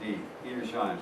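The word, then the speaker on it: Edersheim: History by ERS Shine the man's name is spelled e d e r s h e i n that's a d eer shine in the book is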